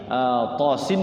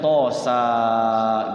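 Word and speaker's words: طس: Kalau kita belum nyerang sama sekali, khawatir ketika kita sama sekali belum belajar, belum talaqi, tosin dibacanya tosa gitu.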